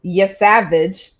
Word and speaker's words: Yesavage: this guy's name because this is the way I think it's pronounced. So on Wednesday the 20th, Trey Yesavage. Oh, no, you got it.